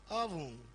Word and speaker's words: often: Oven. Oh, exercise often. Okay. There's no T, the T is silent.